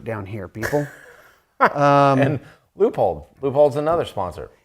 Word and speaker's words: Leupold: here people um and Leupold loophole's another sponsor not pronounced Leopold Leo Leupold it's not right so but they have